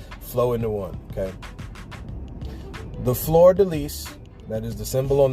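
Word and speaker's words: fleur-de-lis: Did you know that fleur de lis, I believe is how it's said?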